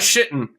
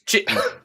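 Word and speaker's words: Chitin: It's not shitten. It's chitten. it's the Mexican version of shitten.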